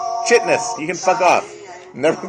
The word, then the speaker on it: chitinous: Chitinous? Chitinous. Fuck you. It's chitinous, and I'm always going to call it that. I'm not. It's chitinous.